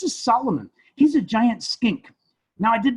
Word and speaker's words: skink: solomon he's a giant skink now i did not say stink although stink rhymes with skink he is a skink